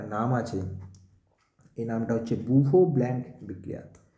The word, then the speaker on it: Bouveault: আছে, এই নামটা হচ্ছে বুভো ব্ল্যাঙ্ক বিক্রিয়া। বুভো বানানটা একটু জটিল, BOUVEAULT, বুভো ব্ল্যাঙ্ক রিয়াকশান।